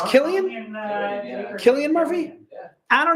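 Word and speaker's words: Cillian: silly and Murphy Tony backs me up it's Killian Killian Murphy yeah I don't know dude you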